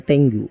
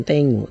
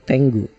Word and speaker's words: Tengu: Ya, bacanya Tengu, bukan Tengu, Tengu.